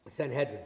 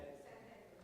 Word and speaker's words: Sanhedrin: The Sanhedrin, did I say it right? Sanhedrin. Sanhedrin, thank you.